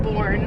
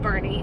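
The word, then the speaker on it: Boerne: little day in born it's also not called born if anybody lives in texas uh it's called bernie madison just refuses to call it that she's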